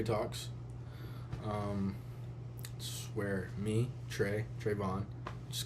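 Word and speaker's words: Trevon: welcome to Trey talks um swear me Trey Trayvon just call me Trey though because you would think trayvon's not a and it's spelled t r e v o n you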